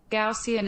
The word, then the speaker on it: Gaussian: Gaussian elimination. Gaussian elimination, not sh, s.